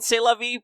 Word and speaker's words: C'est la vie: I believe there's two more letters in C'est la vie, but you don't say them at all. No. Completely silent.